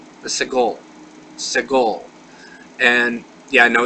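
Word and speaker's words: סגול: Now, This is the only one that actually is pronounced somewhat differently, and this is called the segol. The segol.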